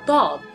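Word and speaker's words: ضاد: Now, we have a similar letter to sod, which is dod. Also a heavy D, so it is not dad, it is dod.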